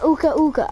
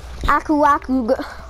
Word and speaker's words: Aku Aku: If you die too many times, the game gives you a Uka Uka, a Aka, a Aku, however you say his name. Aku Aku.